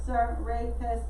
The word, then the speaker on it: Serapis: Yeah, so I had to look up pronunciation for it to make sure. So yeah, Serapis, that's the name for it.